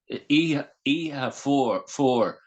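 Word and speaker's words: Oíche Fuar: It's E have four Yeah. cold nights basically.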